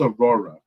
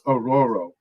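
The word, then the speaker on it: Ororo: I would love so I thought it was Aurora it's aoro Monro okay uh so I've had been mispronouncing her name for the longest but all right it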